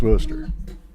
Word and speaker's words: Worcester: It's pronounced Worcester, which is fine.